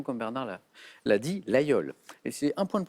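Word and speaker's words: Laguiole: tentation porte le nom d'une commune de l'Aveyron la yole ça s'écrit avec un G8 mais on le prononce exactement comme Bernard là l'a dit la yole et c'est un point de plus Bernard dans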